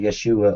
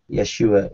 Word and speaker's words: Yeshua: Actually, Yeshua or Yeshua is how Jesus' name is pronounced in Hebrew.